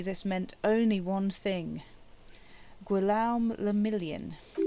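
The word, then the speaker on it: Guillaume Le Million: meant only one thing gualam lamillion if it doesn't rhyme you're not pronouncing it right oh oh dear um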